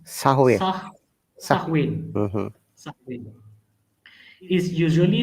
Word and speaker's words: Samhain: In modern times, Samhain, a Gaelic word pronounced Sahwe.